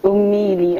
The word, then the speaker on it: Omeili: It's Omeili, actually. A lot of people misspell that, or misspell and mispronounce.